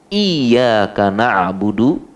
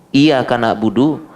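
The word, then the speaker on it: إِيَّاكَ نَعْبُدُ: Pakai tasydid ya. Iyyaka na'budu. Tapi kalau tidak pakai tasydid, iyyaka na'budu, mungkin karena bacanya terburu-buru. Ya. Fi ajalah, ya, ajalah, terburu-buru. Bacanya iyyaka na'budu, tidak pakai tasydid, harus pakai tasydid.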